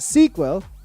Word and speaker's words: SCQL: in fort w trl scql pronounced sequel and uh now we